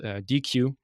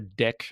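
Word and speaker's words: deque: the the collections module has this thing called DQ or Dec I think some people pronounce it and this is actually implemented as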